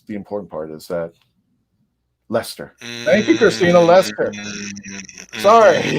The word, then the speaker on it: Leicester: important part, is that Lester. Thank you, Christina Lester. Sorry. Yeah, thank you. Oh, here we would pronounce it Leicester.